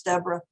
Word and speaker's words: Deborah: I know it's spelled like Deborah, but it's Deborah.